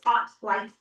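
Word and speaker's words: OttLite: So, there are there are lights that you can use like the light spelled like odd but with T's. Ought light.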